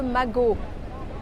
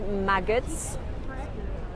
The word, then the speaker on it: Les Deux Magots: Here is one of the iconic cafes in this neighborhood, Les Deux Magots, which is never, no matter what you do, pronounced maggots. Magot.